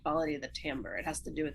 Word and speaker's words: timbre: little bit thicker or a word timbre that's doesn't look like it's spelled that way but it's timbre and that's sound quality